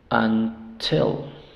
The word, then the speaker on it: until: rat robat robat robat until Qué es until hasta until en este caso la sílaba tónica es la segunda Sí entonces aquí tenemos